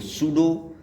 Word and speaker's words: pseudo: तो हम एक एक वर्ड्स को लेते हुए चलेंगे एग्जाम्पल में, जैसे कि PSALM साम, PSEUDO सूडो, PSYCHIC साइक। ये आपके वर्ड्स हैं और यहाँ पर आपका P साइलेंट हो जाता है।